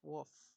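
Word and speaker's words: Wolfe: It's Wolf with an E. No way. Can I call you Wolfy? Absolutely not. The E is silent, obviously.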